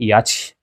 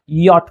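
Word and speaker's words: yacht: वाई से याच नहीं यहां पे याच नहीं कहना है। सी एच का साउंड यहां पे च का साउंड प्रोड्यूस नहीं करता है बल्कि वो औ का साउंड प्रोड्यूस करेगा। यट पढ़ा जाएगा।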